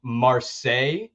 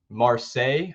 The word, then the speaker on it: Marseille: that play um secondly this is how you say it I think Marseille Marseille I hope I got that right but it's uh m-a-r-s-e-i-l-l-e right um that is going